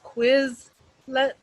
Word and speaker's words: Quizlet: But the flashcards is Quizlet, so like a quiz, but LET on the end.